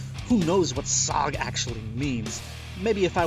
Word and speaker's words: Sahg: There's a silent H in there, and I would forget if the H was the second letter or the last letter. Who knows what Sahg actually means?